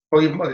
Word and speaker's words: Kaufmann: Koifman, se escribe Kaufmann, ¿no? La AU se pronuncia OI en alemán.